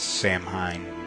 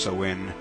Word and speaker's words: Samhain: also straddled Samhain, which looks like it says Samhain, but it's pronounced Samhain.